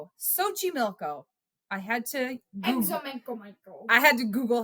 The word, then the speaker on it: Xochimilco: Xochimilco, Mexico. Do you want to know how that's spelled? Xochimilco. Xochimilco.